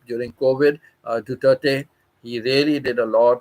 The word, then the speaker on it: Duterte: I used to pronounce it Duarte, and God knows what all I have to say. And then one day, when on WhatsApp, Pita told me it is Duterte.